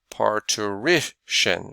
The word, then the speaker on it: parturition: Parturition. Usually if you see the word shun, the emphasis will be on the syllable right before the shun.